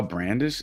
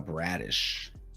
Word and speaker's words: Bradish: about myself and uh you guys haven't been saying my name right all this time so I'm gonna I'm G to make make sure y'all y'all know Kyle brandish is that his last name okay Kyle bradish we're took we're talking